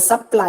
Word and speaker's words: supply: In the word supply, again, ply is given more stress.